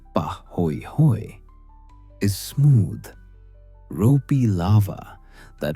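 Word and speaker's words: pāhoehoe: Bahooi pronounced pah hoi hoy is smooth ropey lava that forms when the top surface cools and wrinkles while hot lava continues flowing beneath.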